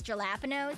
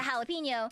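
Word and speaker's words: jalapeño: My favorite one to pronounce is gelapinos.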